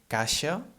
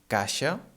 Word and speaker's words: caixa: middle of a word, it becomes a sh sound, like in she, for example. For example, we have the word caixa, caixa, that is spelled C-A-I-X-A, en català C-A-I-X-A.